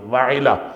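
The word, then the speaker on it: وعلہ: کا نام بعض نے وہلہ لکھا ہے، واو ہا اور لام ہا وہلہ، بعض نے لکھا ہے وعلا، وعلا تھا، اس کا صحیح تلفظ تھا واو عین لام اور ہے، وعلا۔ تو بہرحال یہ بیوی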